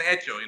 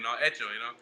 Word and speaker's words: hecho: Now he's saying, at least he's now saying hecho, hecho, There's no H in Spanish, Right.